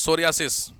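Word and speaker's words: psoriasis: ए एस आई एस सोरियास P silent है इसमें सोरियास इसमें सिंपली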